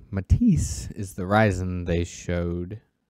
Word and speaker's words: Matisse: It is all based on a new architecture that they're calling Matisse, M-A-T-I-S-S-E, Matisse. That's how it sounds like it's pronounced. I could be horribly wrong.